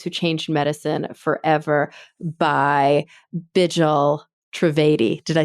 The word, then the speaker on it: Bijal Trivedi: Patients and Families Who Changed Medicine Forever by Bijal Trivedi.